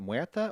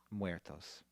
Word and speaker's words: Muertos: Is it Muerta or Muerto? Muertos.